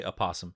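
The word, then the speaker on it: opossum: Do you pronounce the O and Apossum? Well, I just looked up. Yes, you do say aosum.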